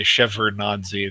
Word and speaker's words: Shevardnadze: ok that's good to know there's a d there I think because of where it falls in the word most people just say shevardnadze they can't really get the D in there when they're pronouncing it we bare bears ok